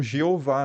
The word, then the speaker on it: Jeová: E isso dá origem a algumas pronúncias que a gente conhece hoje, como Jeová, né? Que é a uhum. mistura das consoantes de Yahvé, ou do nome como era pronunciado, com as vogais de Adonai, Senhor, né?